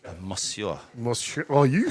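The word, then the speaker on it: Moussia: Mosua.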